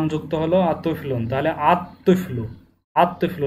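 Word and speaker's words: الطفل: তুইফলুন, আলিফ লাম যুক্ত হলো আর তুইফলুন, তাহলে আত তুইফলু, আত তুইফলু, লাম উচ্চারণে আসবে না, কারণ ত হচ্ছে এই 13টি হরফের মধ্যে।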